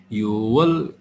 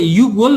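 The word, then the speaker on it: 유월: त्यसपछि युवल ने अब यसलाई युगवल नपर्ने यो एउटा चाहिँ के हुन्छ त यो एउटा अर्को हुन्छ डस र यो 6 मा चाहिँ फाक्षिमको उच्चारण गरिँदैन यसलाई चाहिँ हामीले मात्र युवल गर्ने है युवल मात्र गर्ने जुलाई भनेको छिरोल अगस्तलाई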